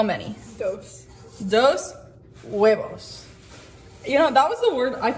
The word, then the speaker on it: huevos: Huevos. You know, that was the word, I think I got that wrong on my Spanish spelling test, was the word for eggs, because it's huevos, but it's spelled H-U-E-V-O-S.